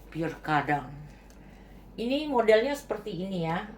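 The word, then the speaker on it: Pierre Cardin: Lalu saya ada tulisannya PK Cardin, bacanya P kadang.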